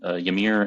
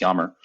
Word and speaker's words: Yamir: and these two gentlemen one named Yamir and Yammer. I'm sorry, Yamir. It was spelled like Yamir. It's Yammer, and one named Alex.